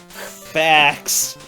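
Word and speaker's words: Phfax: Your name is Fax, and that's spelled P-H-F-A-X. Just in case you didn't know there was an F sound, they put both PH and F in there. Fax, a mystic being and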